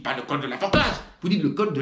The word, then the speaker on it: Forclaz: Est-ce que vous dites le col de la Forclaz? Vous dites pas le col de la Forclaz. Vous dites le col de la Forclaz. Alors qu'en est-il? On ne prononce pas le Z, on ne prononce pas